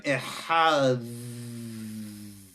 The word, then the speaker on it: Echad: Yisrael, Hashem Elokeinu, Hashem Echad. Yeah, you got to pronounce that dalet correctly.